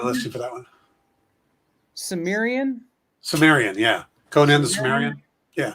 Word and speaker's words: Cimmerian: Cimmerian, yeah.